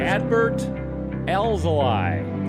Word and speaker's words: Adbert Alzolay: Adbert Alzolay. That's how it's spelled.